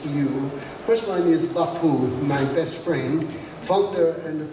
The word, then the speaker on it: Bi-khim: my good friend, Ambassador Bi-khim. I have to pronounce it definitely in Taiwanese dialect because that is his name. Yeah, I like it. I like it. Bi-khim.